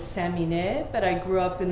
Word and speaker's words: Samineh: because I you know I come from a Persian Iranian background and my name is Sammy Ned but I grew up